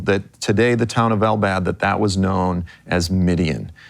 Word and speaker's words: Al-Bad: It's called Al-Bad. In Arabic, it would be like if you say bad as someone's choking you a little bit, and you'll say it right, Al-Bad.